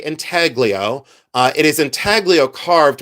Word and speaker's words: intaglio: This is intaglio, and yes, in um in Ohio, we do pronounce the G. Some people say intaglio, I say intaglio.